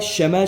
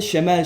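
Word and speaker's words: شمال: Bunu Araplar şemel şeklinde de okuyor. Şimel şeklinde de okunuyor. Ama genelde fasih Arapçada şemel şeklinde okunur. O yüzden şimel demesek daha iyi.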